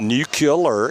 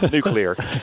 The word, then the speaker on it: nuclear: It's not nuclear, it's nuclear. Okay.